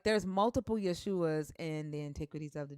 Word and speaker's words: Yeshua: Well, there was one in particular that was actually and it's not Jesus. It's how you pronounce it. Yeshua. Uh, Yeshua.